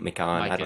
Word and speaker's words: Mikan: McCon. George Mikan. You're going with an alternate pronunciation, sort of a pecan pecan type deal.